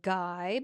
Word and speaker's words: Guy: It's spelled like guy, but it's pronounced Guy.